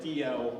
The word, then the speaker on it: Dalzell: Most of them were either made by a man called D.L., that's spelled Dalzell, D-A-L-Z-E-L-L, or by a man called Thomas McCall.